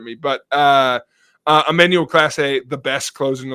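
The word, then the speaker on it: Clase: Wild Thing I just found out how you pronounce his name that's awesome yeah he's been on multiple fantasy teams of mine Class A that's right or Zach calls him Manny CL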